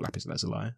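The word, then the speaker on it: lapis lazuli: let's just try this lapis Luli or lapis Lai as I've heard it's meant to be pronounced and again we're getting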